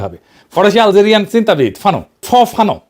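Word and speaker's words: Fanon: ফানো নাম্ আসল উচ্চারণটা।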